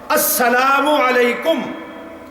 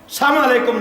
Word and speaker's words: السلام علیکم: لہذا جب سلام کرنا ہے تو جو الفاظ شریعت نے بتائے ہیں ان کی رعایت ضروری ہے، صحیح طریقے سے صحیح تلفظ کے ساتھ السلام علیکم، السلام علیکم نہیں۔ اور یا آپ یوں